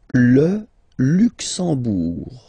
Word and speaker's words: Luxembourg: Okay, final G not pronounced, and then when you combine this E, M here, you get the sound en, en. You don't pronounce the M at all, it's this nasal en, okay?